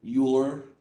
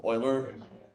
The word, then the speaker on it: Euler: love I was like whenever someone refers to vote very famous and political mathematician Leonard Euler instead of Euler yeah yeah that just